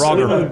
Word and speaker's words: Roger: Roger with a hard G. Yes. Roger.